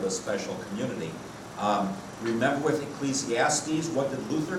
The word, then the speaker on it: Ecclesiastes: So we have Ecclesiastes, which some people wrongly pronounce Ecclesiastics.